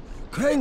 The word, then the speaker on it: Crane: No, my name's Crane. Crane? Crane rhymes with train and brain and sane and grain and rain and plane and the other kind of plane and...